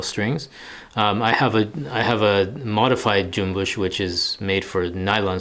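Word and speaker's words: cümbüş: Jumbush, it's got the Turkish diacriticals. Jumbush, the C is pronounced like a J, and then the S with the mark underneath it, that's SH sound, jumbush. So jumbush, the cool thing about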